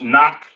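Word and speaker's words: נח: i just wrote down noah pronounce knock in the hebrew which means rest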